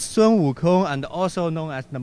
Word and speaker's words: Sun Wukong: Yeah, you pronounce very clearly. It's Sun Wukong, and also known as the Monkey King.